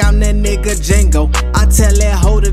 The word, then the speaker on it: Django: I'm poppin' out with all the sauce like I'm that nigga Django. I tell that hoe to D is silent, but it made a hit notes.